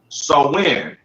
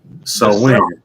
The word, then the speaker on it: Samhain: to spoil the story they got the pronunciation in here too sir select you yeah halloween's origins date back to the ancient celtic festival of so when so when yeah there you go who lived 2 000